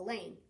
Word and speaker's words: Elaine: scared i can handle elaine rhymes with pain if you don't say